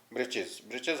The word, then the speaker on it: breeches: की, पुराने फैशन की ब्रिचेस होते हैं छोटे छोटे से, निक्कर, ट्राउजर्स. और the writer hair spelled it फॉर फन to rhyme with the word witches.